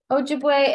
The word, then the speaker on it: Ojibwe: indigenous culture um I I don't know how to honestly pronounce Ojibwa Ojibwe Ojibwe oh no yeah um I can look that up right now actually because I want to be I read them oh ojib boy yeah okay Ojibwe and then it's also